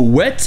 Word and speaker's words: whet: marchait bien mais non c'est bien le mot wet avec un h ça se prononce exactement comme moët sans le h mais c'est juste utilisé